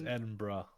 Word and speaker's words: Edinburgh: Cam, please tell him how to pronounce Edinburgh. Edinburgh? It's Edinburgh.